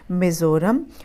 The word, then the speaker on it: Mizoram: इसको पढ़ेंगे मिज़ोरम और इसका कैपिटल है AIZAWL।